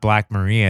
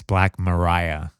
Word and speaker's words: Black Maria: It's not Black Maria, it's Black Mariah. Oh, but it's spelled like Maria?